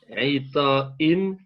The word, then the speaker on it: غطاء: على غطاء أبيض. Très bien, mais par contre, le riz, tu l'as prononcé plutôt comme.